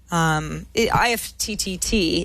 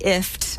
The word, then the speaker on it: IFTTT: IFTTT, IFT. I've been told by the people who work behind it, it's IFT. So I just feel like I always have to spell it because it's not very intuitive otherwise.